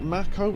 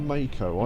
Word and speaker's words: Mako: Is it MCO or Mako? I've always said Mako cuz it sounds like the word make with but with an O instead of an E.